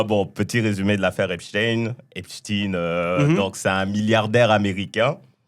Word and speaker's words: Epstein: Et comme beaucoup de gens disent Epstein, j'ai entendu plusieurs prononciations, mais je crois que ça se dit Epstein. Non, c'est Epstein.